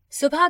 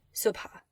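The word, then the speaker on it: صبح: So based on our letter chart, it should be pronounced sub. And you'll hear it pronounced that way from time to time. But most often, you'll hear it pronounced subha.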